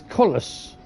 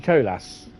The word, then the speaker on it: Colas: He announced it as Collus. Who? Colus. Who? Kolus. That's not how you pronounce it.